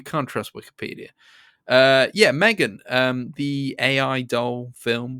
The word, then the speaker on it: M3GAN: but Megan um it's Megan it's Megan it's Megan I know on Wikipedia it says m3an is how it's pronounced but as everybody likes